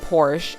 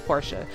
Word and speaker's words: Portia: I think I said Porsche, and y'all, I don't know what I was thinking. I knew it was Portia. Deep down I knew it was Portia, but it was the E throwing me off, y'all.